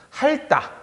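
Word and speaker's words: 핥다: 자, 그 다음에 할따. 할따 같은 경우에 리을 티읕에서 티읕이 날아가고 그냥 할 이렇게 발음을 하죠.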